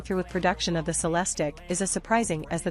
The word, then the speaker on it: Celestiq: two motor AWD system the celestic pronounced sales Tech will be handcrafted at